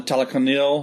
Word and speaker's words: Talokanil: How you pronounce their names? The Talokans? Yeah, the Talokan, the Talokanil.